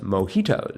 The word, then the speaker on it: mojitos: I'm going to guess it's pronounced mojitos. That is correct. All right. I'm on my way to learning Spanish. I've learned not to say J as J.